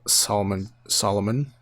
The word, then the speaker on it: Solomon: In the beginning, you have Solomon. Is that how you say it? Yeah, Solomon Grundy.